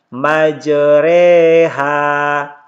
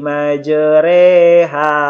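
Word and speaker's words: مجراها: ini tetap dibaca tarqiq jadi tulisannya ini majroha ini cara membacanya meijer Eha ayat lengkapnya teman-teman sekalian disuruh hud ayat 41 Hai waqolarkabu movie HD bismilahi majreha wa mursaha inna Robbi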